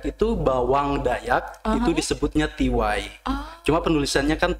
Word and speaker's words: Tea Wai: adalah owner ty ya benar bacanya tiw Iya benar tiw t e a w a i t e a w